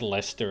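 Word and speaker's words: Leicester: I know I know the rule is that it's Lester and wer the CE doesn't exist in the pronunciation it's just fun to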